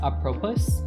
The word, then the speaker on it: apropos: I love to hear Daddy pronounce apropos. Is that how you say it? Apropos? Apropos. Apropos.